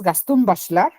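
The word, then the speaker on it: Gaston Bachelard: Fondo de Cultura económica Gastón bachar se dice muy en francés gaston bachel gaston bachel y se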